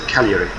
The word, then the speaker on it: Cagliari: How do I pronounce it? Cagliari.